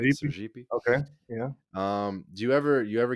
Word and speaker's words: Sergipe: Do you ever, so the, just to the north of the state of Bahia is the state of, Sergipe, if I'm pronouncing that right. Sergipe.